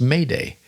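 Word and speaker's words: m'aidez: m Apostrophe a i d z which is pronounced Mayday and means help me in French and there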